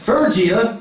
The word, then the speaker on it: Phrygia: How do you pronounce that word, Brother Bill? Phrygia.